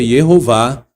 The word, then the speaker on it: Jehová: Eh, em português, Jeová, não tem problema falar, porque em português tem letra J. Então, hebraico é Jehová. Essa é a pronúncia mais antiga e mais atestada.